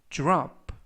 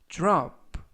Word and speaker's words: drop: 이번 표현은 drop, drop, drop 또는 drop, drop. 그래서 dr 발음이 주르, 주르, drop 또는 drop 라고 발음하시면 되겠습니다.